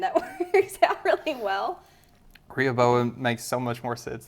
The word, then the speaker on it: Rehoboam: Rehoboam? Rehoboam? Oh, I've been saying in my head is Rehoboam. Rehoboam.